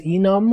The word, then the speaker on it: enum: going to be state do you all pronounce this thing as enum or enume I specifically say enume because I know it's enumeration So I say enume same thing for like